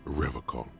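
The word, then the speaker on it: Revachol: piles of soggy logs at his feet he pronounces rivercon with a hard K unlike other people serious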